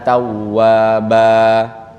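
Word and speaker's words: توابا: Kayak innahu kana tawwaba. Kan tulisannya tawwaban itu.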